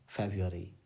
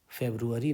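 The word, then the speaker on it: February: Sunday Monday जनवरी okay फेब्रुअरी ध्यान रहे फरवरी नहीं होता है फरवरी होता है इसका उच्चारण यही है अगस्ट ओके 4 पीएम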